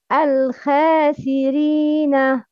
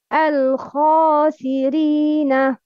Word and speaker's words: الخاسرين: The first one, الخاسرين. The second one, الخاسرين. Which one is right? The first or the second? The second, الخا. Yes, because it's heavy, not light.